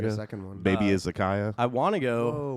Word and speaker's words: izakaya: Baby Izakaya.